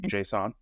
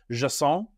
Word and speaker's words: JSON: that he thinks it's he thinks it should be pronounced Jason I he's not he's